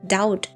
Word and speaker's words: doubt: Doubt the B is silent.